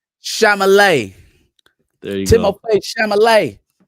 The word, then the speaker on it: Chalamet: How you mispronounce it? Shimalamine? Chalamet.